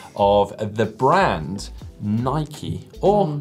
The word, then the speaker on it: Nike: Yeah, last week's show, someone picked up on my pronunciation of the brand Nike, or Nike, as we like to call it here in the UK.